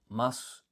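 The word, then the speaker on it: ます: uh more often with katakana or just this this u like for example mas it's often written like masu you don't pronounce the u and it seems like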